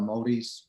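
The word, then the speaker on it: Māori: yeah so um our native new zealanders are maoris about m-a-o-r-i we pronounce the maori so my my dad um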